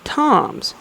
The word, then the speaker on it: Thomas: Tom's his name is looks just like Thomas but his pronounced Tom's and he's gonna take